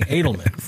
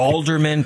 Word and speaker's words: Adelman: have dangle and then she's been cursed with people mispronouncing Adelman right exactly Alderman people add other letters and there's nothing worse